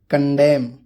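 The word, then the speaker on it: condemn: एन, जब एम के बाद एन आता है तो वो एन भी साइलेंट होता है। कोलम, ऑटम, पतझड़ मौसम को बोलते हैं। कंडेम, निंदा करना।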